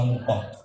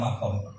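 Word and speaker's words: مقام: Biasanya Kiai alim itu bacanya muqam, sing setengah alim bacanya makom. Nah itu ya tengah-tengah saja, yang jelas itu sama-sama benar.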